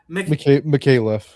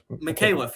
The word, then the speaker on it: Micallef: How do we pronounce this last name, Pat? Micallef. Micallef.